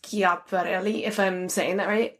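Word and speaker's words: Schiaparelli: elsa chaparrali i um i think it's pronounced kia barely you know alexander mcqueen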